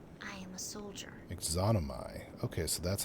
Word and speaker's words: Yxunomei: I am Yxunomei. I am a soldier. Yxunomei. Okay, so that's how you pronounce it.